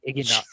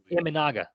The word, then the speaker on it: Imanaga: Is it Iginaga? How do you say it? Imanaga. My apologies.